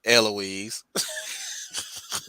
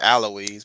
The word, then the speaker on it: Eloise: way i saying it eloise i mean technically that's like a correct pronunciation it's technically aloise but i don't know why it slips out as eloise from me let me start saying